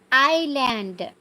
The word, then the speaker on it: island: it's Island silent s island this is again you